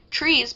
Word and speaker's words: TRIZ: designed to combat psychological inertia what is trees pronounced trees but also Tri as in Fizz by some